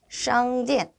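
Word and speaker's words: 商店: 건설음이기 때문에 샹디엔 하실 때 SH 발음 주의해서 발음해 보도록 하겠습니다.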